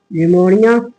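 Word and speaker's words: pneumonia: mycoplasma and पीपी एल जिसे हम कहते हैं निमोनिया निमोनिया की स्पेलिंग बेटा गड़बड़ हो गई पी एन यू पी एन यू निमो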